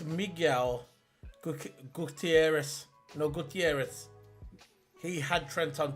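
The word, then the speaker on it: Miguel Gutiérrez: How do you pronounce his name again, the guy? It's Miguel Gutierrez.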